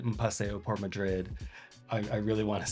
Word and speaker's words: Madrid: I just would hate myself if I said Un Paseo por Madrid. I really want to say it like a Spanish person. Un paseo por Madrid, Madrid, Madrid, un paseo por Madrid, Madrid.